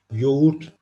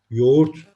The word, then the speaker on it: yoğurt: film olduğu bir sözcük dikkat edelim ğ düşürürüz Bir önceki sesli harfi bir ses uzatırız yoğurt demiyoruz yoğurt diyoruz o da örümcek gibi